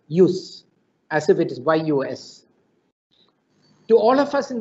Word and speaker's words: jus: justice comes from the word j-u-s-j-u-s which is pronounced as you know as use use as if it is yus to all of us in the legal profession